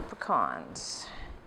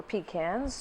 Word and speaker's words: pecans: then the coconut and our pecans or pecans depending where you live how you pronounce it and that look